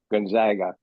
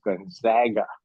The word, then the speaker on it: Gonzaga: an undergraduate student at Gonzaga, and he is very adamant that the proper pronunciation is Gonzaga. He said it's only the East Coast elites who pronounce it Gonzaga.